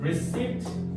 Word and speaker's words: receipt: 이거 발음 조심해라. receipt, recipe.